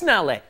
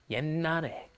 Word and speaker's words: 옛날에: You see that shit at the bottom there, you're thinking, yes, nale. No, no, that's not how it's pronounced. A lot of the time when the pachims come up against another consonant, then they will be kind of swallowed, held back, glottalized. It's called. So what you're doing is you're just pronouncing an N, 옛날에.